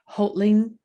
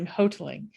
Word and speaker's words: Hoteling: our next reader is sarah holtling hoteling i was corrected with her from her pronunciation hoteling thank you thank you